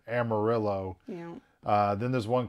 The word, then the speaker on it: Amarillo: that texans are pronouncing amarillo wrong that it should be amarillo for uh yellow like it literally means yellow i learned that i